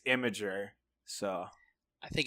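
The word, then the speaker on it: Imgur: also that masking up because I've always been pronouncing it as M ger apparently its imager so I think it's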